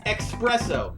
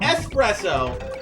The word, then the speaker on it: Expresso: new animal buddy too this is expresso not espresso expresso i will not get his name wrong because i always got